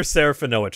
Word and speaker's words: Serafinowicz: Peter Serafinowicz. I actually had to spend time to figure out how to pronounce that name.